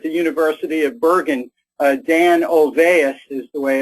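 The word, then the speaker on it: Olweus: young Professor at the University of Bergen Dan ovais is the way it's pronounced to do something about the problem and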